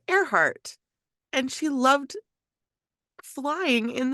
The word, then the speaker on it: Earhart: her last name because it's spelled like ear heart but you pronounce it airheart and she loved flying